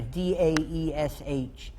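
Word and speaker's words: Daesh: you can i'll just give you a fanatic pronounce here da e sh it's it's taking the firt it's taking the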